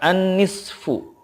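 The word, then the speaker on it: النصف: An-nisfu, kalau waqaf dibacanya menjadi an-nisf. An-nisf. Gitu.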